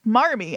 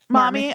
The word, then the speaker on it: Marmee: That was her best guess at how you would spell mommy. Oh, that's hilarious, actually. And so it's Marmee, and they just kept that pronunciation and apparently in the one with Katharine Hepburn, she does pronounce it mommy.